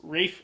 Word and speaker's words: Ralph: And Rafe Fiennes. I call him Ralph because his name is Ralph, but if he prefers Rafe, fine, I'll play his little game. Wraith Fiennes. Rafe Fiennes.